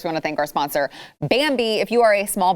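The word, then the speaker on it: Bambee: compliance don't do that go to bambi it is spelled b-a-m-b-e-e they were created specifically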